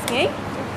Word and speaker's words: Nghi: How do you spell that? C-O-N-G. C-O-N-G. And what's yours? My name's Ki.